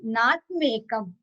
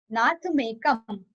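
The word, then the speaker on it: नाथमेकम्: Ye Sanshritas Tri Jagadishwara Natham plus Ekam, which will give us Nathmekam. Nathmekam.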